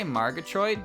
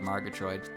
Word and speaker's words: Margatroid: to pronounce her name i say margotroid because there's no official pronunciation on her name but it's it's based on murgatroyd right it's based on that